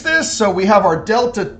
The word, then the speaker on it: delta: we were given was 10 this is called delta T this is already calculated as the change